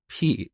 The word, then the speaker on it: pi: concept of constants, but I pronounced this word as p instead of pi. And believe it or not, to this day, people make fun of me for saying p instead of pi, but that's how we learned this back in Iran. We pronounce it as p, and I think Greek people also say p.